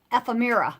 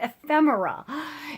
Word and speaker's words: ephemera: list is called assorted ephemera, and I always mispronounce. I used to call it ephemera. I was told that I was pronouncing it wrong. So it's actually pronounced ephemera.